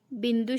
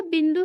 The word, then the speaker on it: बिंदु: अगर यह बिंदु न होता तो इस शब्द का उच्चारण कैसे होता? इस शब्द का उच्चारण होता बिदु। यह बिंदु है, इसलिए शब्द का उच्चारण हुआ बिंदु। मतलब अनुस्वार से उस शब्द का उच्चारण बदल जाता है।